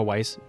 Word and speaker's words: Weiss: those two words is Weiss because of y b which is pronounce the same oh wise which means white in German but he is white